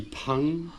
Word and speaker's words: 朋: Mais le P, ça se dit avec une inspiration, on dit pang.